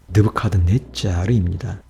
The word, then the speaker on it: 느부갓네살: 느부갓네살의 정확한 발음은 느부카드네짜르입니다.